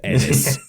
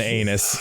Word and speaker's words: Aenys: What, bro, his name is spelled Aeyns. How the fuck am I supposed to know it's Aenys? How do you pronounce Aeyns as anything other than anus?